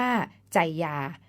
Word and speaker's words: ไชยา: เรื่อง คำ นี้ แม้ จะ ออก เสียง ว่า ใจ อย่า แต่ เวลา เขียน ต้อง สะกด เป็น ไชยา ซึ่ง มี ความ หมาย ว่า